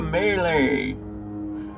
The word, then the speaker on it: melee: I have never lost to a melee. You would have, but you were always running away. Although I think I pronounced melee the way you're supposed to, not melee.